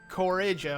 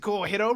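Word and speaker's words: Cojiro: Okay sure so as you can tell I'm pronouncing it different I used to call it Coro but or Coro I believe but yeah a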